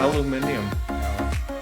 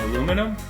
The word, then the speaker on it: aluminium: Aluminium? Aluminium. A zip-up tower. Oh, like aluminum? No, aluminium it's called.